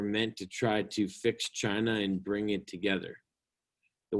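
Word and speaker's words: Qin: very much part of china today is known as confucianism from kung fuzi the philosopher now um the chin family and it's spelled like the chin on your chin yes this thing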